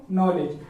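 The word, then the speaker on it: knowledge: और इसी प्रकार इसको नॉलेज। कितने बच्चे ज्यादातर गलती करते हैं, नॉलेज को नॉलेज पढ़ते हैं, क्योंकि इसके अंदर एन है और एन से पहले के आया हुआ, इसीलिए के साइलेंट रहेगा।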